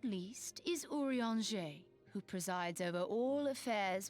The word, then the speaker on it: Urianger: Last but not least is Urianger, who presides over all affairs within these halls. Pray seek him out whenever you have questions. Urianger.